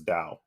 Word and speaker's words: Tao: So I think it's kind of how in Shintoism you have Tao, Tao, yeah. But you actually pronounce it as Dao.